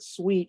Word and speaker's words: suite: And then she said the second word sweet is spelled 5, the number 5, U-I-T-E, sweet, 5, errata 5 sweet, errata fuit.